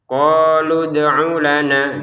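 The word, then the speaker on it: قالوا ادعُ لنا: Jadi awalnya kita baca qalu, lu-nya 2 harokat. Ketika digabungin dengan kata setelahnya ternyata ada sukunnya dari dal ini, maka panjangnya lu sudah tidak ada sehingga terbacanya tidak panjang.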